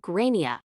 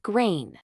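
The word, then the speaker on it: Gráinne: names can be tricky the kid is called graia not grain my partner who has studied Ireland's political history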